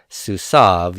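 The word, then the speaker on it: סוּסָיו: be su Sauve su saab and we do pronounce that su Sauve you do not pronounce the yoda yoda silent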